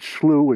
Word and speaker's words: slough: just end by saying i use this word slu and many have wondered about that but here in the midwestern united states it's spelled s-l-o-u-g-h and it's a word that we use for these old river channels that still hold water so so